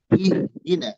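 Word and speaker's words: اهدنا: Kenapa dibaca i? Padahal tidak ada harakatnya. Ya. Ihdina. Ihdina.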